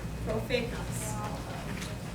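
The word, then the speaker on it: prophetas: If you see PH, how do we pronounce that? F. Which you just notate as if you were writing an F. So an example of that would be profetas.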